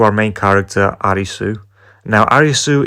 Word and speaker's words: Arisu: Now Arisu is just the Japanese pronunciation of Alice, so I'm not too sure if I should call him Arisu or Alice.